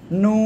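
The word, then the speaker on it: نون: তারপরে নুন। কোন জায়গা থেকে উচ্চারণ হবে? জিহ্বার আগা, তার বরাবর উপরে তালুর সাথে লাগাবেন, লাগিয়ে 2 ঠোঁট গোল করবেন, গোল করে উচ্চারণ করতে হবে নুন।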